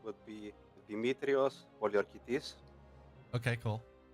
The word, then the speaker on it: Poliorketes: So, in Greek, the correct pronunciation would be Demetrios Poliokertes.